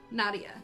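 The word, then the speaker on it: Nadja: that it is uh the same as saying nadia so nadia but it's a j instead of an a or instead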